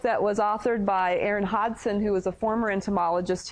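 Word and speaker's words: Hodgson: her name is Aaron Hodson it's h o d g s o n but that's how you that's how it's pronounced Hodson you don't really say the g so I think of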